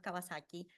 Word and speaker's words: Kawasaki: For example, the pronunciation of the syllable wa is pronounced very frequently as va, so Kawabata becomes Kawabata, Akutagawa becomes Akutagawa, and of course, the famous motorcycle brand Kawasaki also becomes Kawasaki.